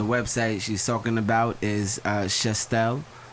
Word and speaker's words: Shestel: So the website she's talking about is Shestel, right? Is that how you say it, right? Yeah, it's Shestel.